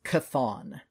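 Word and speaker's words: Chthon: hold was created by I've always pronounced it as cathon it is CH h t h o n so pronounced similar to cthulu yes so the dark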